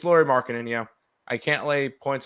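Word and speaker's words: Lauri Markkanen: It's Laurie Markkinen, yeah.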